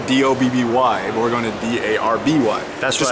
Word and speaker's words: Derby: It's pronounced Darby in case you're an American, because That's right.